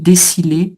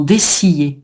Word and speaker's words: dessiller: Euh alors, on prononce comme d'en pillier. Desser. Moi, j'aurais dit un sile déciler dessillé. Non, dessiller. OK. Comme dans piller dessillé.